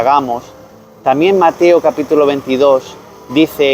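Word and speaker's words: γάμος: que ya hemos visto que se pronuncia gamos también Mateo capítulo 22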